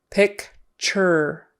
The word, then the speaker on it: picture: It almost sounds like the word P-I-T-C-H-E-R, pitcher. Something you use to pour things, or in baseball, the pitcher is the guy who throws the ball. It's almost pronounced the same way in casual conversation in the Western United States.